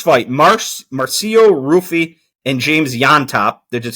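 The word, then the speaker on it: Llontop: The first fight, Marcio Rufi and James Yontop, that is spelled Llont, and somehow that means Jan.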